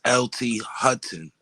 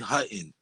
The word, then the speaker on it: Hutton: No, it's LT Hutton. Hutton. Hut? No. LT Hutton.